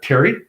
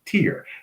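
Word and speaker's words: Teyr: so this character uh Terry um she's tier sorry not Terry I should pronounce it properly tier it's t e y r tier uh OBSen.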